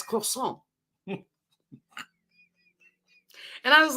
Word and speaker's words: croissant: nothing means nothing and I kept saying croissant with the T on the end he's like no it's croissant and I was like